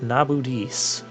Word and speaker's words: Nabudis: Oh, the Necro Hall of Nabudis. I'm only pronouncing that correctly because the game pronounced it for me before.